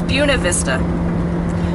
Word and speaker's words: Buena Vista: I've been saying Buena Vista and that's wrong it's yeah it's beaut it's Buena Vista so I realized that